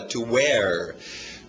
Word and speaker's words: wear: Pensa na sua cor verde, where, mesma pronúncia, só que outro significado. O verbo agora, to wear.